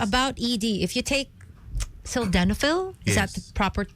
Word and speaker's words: sildenafil: If you take sildenafil, is that Yes. the proper Yes, yeah, that's the generic pronunciation?